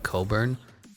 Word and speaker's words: Cockburn: love and marcus bagley i've heard people say that they uh pronounce the name kofi coburn i think people do that just because they feel so ashamed of trying to read it as cockburn barry smith goes number